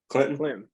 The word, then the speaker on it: Clinton: there with your pronunciation I don't think they pronounced the T in Clinton I think it's I think it's silent Clinton the the local that's